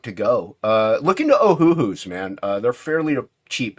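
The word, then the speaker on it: Ohuhu: go uh looking to ohooo man uh they're fairly cheap and affordable and they they're comparable to yeah yeah they're comparable to Copic yeah it's spelled exactly how it sounds o h u hu oh yeah they're very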